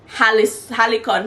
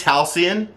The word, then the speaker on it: halcyon: golden age of something talking about uh communities halicon how do you say that word i'll see you on days as it's halcyon you pronounce it as if like that's when